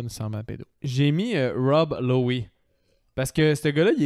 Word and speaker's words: Lowe: Lowe, L-O-W-E. Rob Lowe. On prononce pas le...